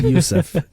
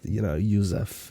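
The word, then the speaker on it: József: It's Yusuf. Joseph. Oh, okay. Yeah. Joseph. I thought it was Joseph. Joseph is the English word, however, Hungarian. Okay. So Yusuf. The accent on the O is that Yusuf.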